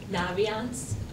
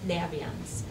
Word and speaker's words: Naviance: have heard of visits it's referred to as Naviance very very often the company itself when you their pronunciation is Nabi ins and that comes from navigation and so I was